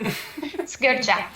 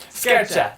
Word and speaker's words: Sgircea: How do you pronounce it? Sgircea. Sgircea.